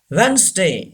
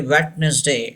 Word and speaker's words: Wednesday: laughed inant number five wednesday yes don't say wetness day it's wrong vanston Wednesday yes well